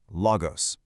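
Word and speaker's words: λόγος: First part, lo. Second part, gos. Together, logos.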